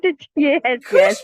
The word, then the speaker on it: Khushbu: And Kujbo, is that correct? I have no idea if I pronounced that correctly. Is it Kushbo? Yes, no? And it is correct. Yes, Kushbo. Oh my God! Yes. That is an amazing name. I pronounced it great.